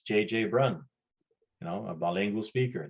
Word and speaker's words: Brun: I know my last name, Brun, is hard to pronounce. Brun in English is Brown. So quite often people will just say, you know, Brown, because they can't pronounce Brun.